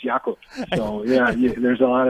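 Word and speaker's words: Jakub: ask them and then he also likes to be called Jacob but you know in Europe it's yakub so yeah there's a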